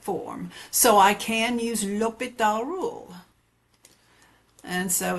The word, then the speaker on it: L'Hôpital: Today we're going to be looking at finding limits using L'Hôpital's rule. It's not L Hôpital, the H is silent, L'Hôpital.